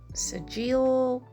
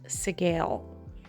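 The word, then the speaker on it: Sgaeyl: it and I was like is it like Sile or seal but it is pronounced seale at this point I decided to replace the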